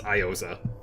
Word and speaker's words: Iosa: and sexy's house on eosa the official pronunciation is iosa well well what have